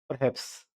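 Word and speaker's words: perhaps: परहैप्स, परहैप्स, परहैप्स, परहैप्स है, इसमें आर है, इसमें साइलेंट है ये, परहैप्स, परहैप्स, ठीक है?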